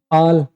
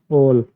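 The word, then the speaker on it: all: ठीक है, आल नहीं, ऑल, वाटर, वाटर, फर्क है इनमें प्रोनाउंसिएशन में।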